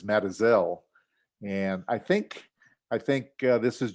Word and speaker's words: Mazatzal: Well, it's a good thing we're not giving a talk about the Mazatzal Mountains, which is pronounced by people down there as Matazel.